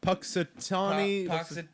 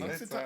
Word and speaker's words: Punxsutawney: Puxatawny. Has an N Punk- in there? yeah, there's an I don't N, think it's P-U-N. pronounced. I think it's a silent N because I remember them saying Puxatawny. Punxsutawney Phil.